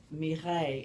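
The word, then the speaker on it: Mireille: she really wasn't named Mimi her name was me Hey and you spell that mi r e i ll e then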